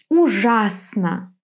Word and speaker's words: Ужасно: Well, you probably have already guessed, in some three-syllable words the accent falls on the second syllable. Why not? Let's see. Ужасно.